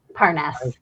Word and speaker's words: Parness: How do you pronounce that? Parness. Parness Parness.